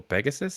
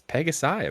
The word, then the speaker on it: pegasi: enunciate that so hard have you ever heard pronunciation of multiple Pegasus it's pegasi appar you just said you just said Pegasus multiple Pegasus Pegasi look at that other